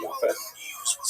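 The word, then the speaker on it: Japheth: Uh he has uh three sons, Shem, and Yaf. And I should pronounce that by the way in the Ash pronunciation. Yas.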